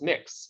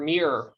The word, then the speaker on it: Mx: like to have the an unseen you know pronunciation or title as mix you know mx or mir you know mir um i think it's it's